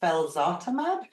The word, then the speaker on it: felzartamab: So for background for everybody, that deal gave you, am I saying it right, felzartamab?